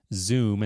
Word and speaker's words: Zum: They've got their new Zoom, and that's spelled ZUM, wireless lighting control solution.